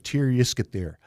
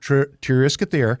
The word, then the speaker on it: Tir-Yiskithir: Don't even try and pronounce it, because it's the closest we get to it is tell people just to say Triscuits and beer. But it's I was going to say that name again. Tir-Yiskithir.